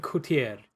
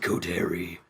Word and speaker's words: Coterie: They call themselves the Red Coterie. It's very hard to pronounce. Also, I should have pronounced it like Red Coterie, because it's in bold.